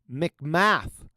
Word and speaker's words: McMath: McMath.